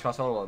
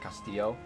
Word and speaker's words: Costello: I am Italian because I am adopted, but the Costello is an Irish last name. A lot of people like try to overpronounce it, called like Castillo. It's not Castillo.